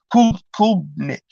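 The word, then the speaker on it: Klubnik: Kulnick.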